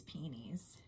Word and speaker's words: peonies: I guess we can call these penes that's how Martha Stewart pronounces peonies I think it's a southern thing to say peonies I could be wrong I don't know I grew up saying peony so that's what I'm